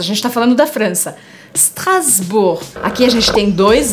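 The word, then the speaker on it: Strasbourg: de strasburg strasburg por que que eu falo strasburg é claro que a palavra vem do alemão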